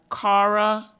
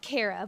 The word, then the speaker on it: Kara: First up, we have Cara. If I mispronounced your name, please just correct me. Hi there. Oh, can everyone hear me? It's Kara, but that's okay.